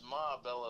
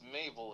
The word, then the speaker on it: Mabel: if I mispronounce okay don't don't think of her as maella as like an old lady it's no it's Mabel it was a young lady who died oh okay that's that's